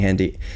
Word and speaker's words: Hendy: calm heent why I hope I've been saying handy you're good I'm mispronouncing earlier today I said there's a lot